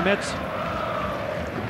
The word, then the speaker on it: Metz: Lolo, je t'ai dit qu'on disait Metz, c'est pas Metz.